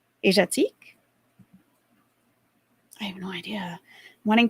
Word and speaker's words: Asiatique: looked it up yeah everyone else pronounced it Asia like Asiatique Asia teak I have no idea